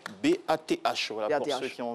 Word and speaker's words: Bath: Ça fait un peu comme Bath. Oui, la salle de bain. Baf. Baf. Salle de bain ou baf dans la prononciation.